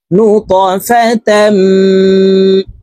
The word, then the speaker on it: نطفة: সুদা ألم يكو نطفة ত কলকলার হরফ উপরের দিকে ধাবিত করে ধাক্কা দিয়ে উচ্চারণ করব নুন ত পেশ নুতফাতাম ألم يكو نطفة من